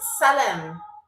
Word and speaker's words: salam: But it's salam. Salam. That's how they say it, okay?